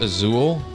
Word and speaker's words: Azul: I think it's pronounced Azul, I think.